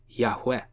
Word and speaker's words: Yahweh: by the Hebrew consonants YHWH, and most likely pronounced Yahweh.